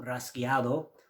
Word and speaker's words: rasgueado: we are going to be looking at some rasgueado or rajeo or rasgueo, depending on how you want to pronounce it.